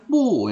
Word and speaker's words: 不: Pu ini nada aslinya adalah memang nada keempat ya, beda dengan nada i tadi nada aslinya nada pertama. Kalau pu nada keempat. Pu dibaca dengan nada keempat apabila bergabung dengan huruf yang berbunyi 1, 2, dan 3.